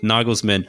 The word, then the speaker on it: Nagelsmann: oh now you william noggles man yeah nigel nagelsmann uh a lot of waves went out about